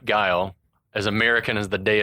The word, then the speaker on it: Guile: like up and down that his name was Ghoulie. Ghouly. Bill Ghoulie phonetically whose name is Guile?